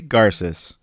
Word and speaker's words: Garces: It is pronounced A, it is pronounced J, and it is Garces.